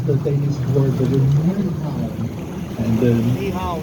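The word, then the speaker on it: Nyhavn: Yes, I will practice the Danish word with the Ni Hao. And it's spelled Nyhaen. So the Ny part, that means new, and Haven is harbor in Danish. Ni Hao. Just like København.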